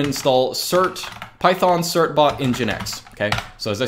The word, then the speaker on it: nginx: is this thing in GI in X it's pronounced engine X that is your webserver install also cert bot